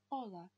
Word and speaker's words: hola: Вы можете сразу обратить внимание на то, что первая буква H. Если изучали английский, то это английское H. H. Испанское H. Она не читается. То есть привет будет просто hola.